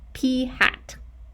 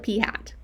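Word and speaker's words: p̂: kid you not, pronounced P hat. That is a hat. The P is wearing a hat, and we call it P hat.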